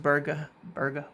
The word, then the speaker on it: Berge: And I know it's pronounced Berge, but he said it's okay to say it the other way.